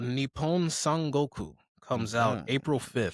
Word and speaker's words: Nippon: Yeah, when you're pronouncing words that have the same letter repeatedly, you gotta like slightly pause and drag. Yeah. So like Nippon.